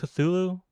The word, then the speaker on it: Cthulhu: in a text file book title that book cthulu is how you pronounce cthulu font this is some fancy font